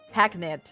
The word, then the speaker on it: hackneyed: Could this man be a more Hackneat? Wait, I have to find out how that's pronounced. And what it means. Hackneyed, okay?